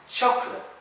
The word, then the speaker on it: chocolate: Chocolate in English isn't chocolate or chocolate or choco no sé qué. It's chocolate. You don't have to pronounce like the O there. So it's not choco, no, you just say chocolate.